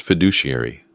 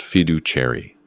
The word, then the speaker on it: fiduciary: Dad, it's pronounced fiduciary, not fidu cherry.